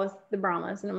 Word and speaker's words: Brahma: You gotta say Brahma. Yeah, I know. I use Louisiana as a crutch. For Louisiana. It's okay. My parents say Brahma.